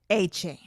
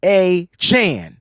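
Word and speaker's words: Achane: pros number one Devon a chain Devon a Chan like a chan c-h-a-n chan take out the chain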